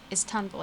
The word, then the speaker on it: Istanbul: yeah right I'm 11 Istanbul Istanbul as they would pronounce in Turkish and yeah I'm Turkish